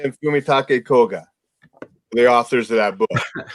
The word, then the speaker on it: Fumitake Koga: Kellen, you were wondering about the names Ichiro Kishimi and Fumitake Koga, the authors of that book. I love it. That's how you pronounce the Japanese.